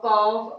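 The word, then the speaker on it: calf: जबकि एल यहाँ पर है लेकिन हम उसका उच्चारण नहीं कर रहे हैं. हाफ, चॉक, कॉफ, आलमंड, बाम, फॉक, बक, सब में एल को हम साइलेंट रखेंगे.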